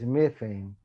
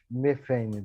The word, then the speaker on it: methane: is not water, it's methane. I don't know if my pronunciation is correct, but in Portuguese it's metano. I think that in English is methane that you say, methane.